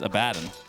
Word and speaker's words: Abaddon: I say Abaddon, even though it's incorrect. Right? How do you say that? It's Abaddon.